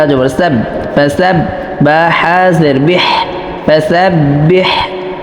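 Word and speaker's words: فسبح: ফা জবর ফা, সিন বা জবর সাব, ফাসাব বা হাজের বিহ, ফাসাব্বিহ, এই হাটা অবশ্যই কণ্ঠনালীর মধ্যখান থেকে উচ্চারণ করতে হবে, নাহলে কিন্তু পরিপূর্ণ হরফ আসবে না।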